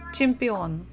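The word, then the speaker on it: чемпион: IA chia gym Champion so we stress the final syllable chimpeon in English pretty much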